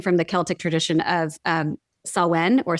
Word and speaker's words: Samhain: So Halloween is really came from the Celtic tradition of Samhain or Samhain. It's pronounced differently depending on the regional accent in Ireland and where it came from, but it's spelled Samhain, looks like Samhain.